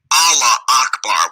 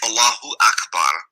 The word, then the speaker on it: Allahu Akbar: the hijackers were screaming Allah Akbar, which is not how you say it. It's Allahu Akbar.